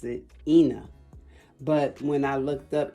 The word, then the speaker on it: Eni: name is spelled e-n-i and her her mom pronounces it ena but when i looked up e-n-i i didn't